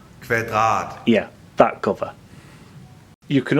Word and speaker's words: Kvadrat: My friend Henrik will take over because he's Danish and he can say it properly. Here we go. Kvadrat.